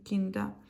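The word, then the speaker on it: Kinder: хабрий храбрий хастхабен хастду кінда хаздукінда і тут не Кіндер А это р не читается кінда тобто якщо кінда то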